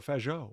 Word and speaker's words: Fajot: Oh, yeah, you don't pronounce the T, right? So Fajot. Yeah, correct. Yeah. We're going to go with Fajot.